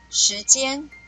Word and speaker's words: 時間: 时间，时声调第二声。时声调第二声，间声调第一声，间声调